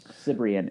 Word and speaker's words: Cibrian: Who's Eddie Sabir? I don't know how to say his last name. Sabaro. Cibrian.